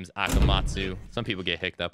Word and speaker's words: Akamatzu: uh if you guys don't know how to pronounce my name my name is akamatsu some people get hick up on it hope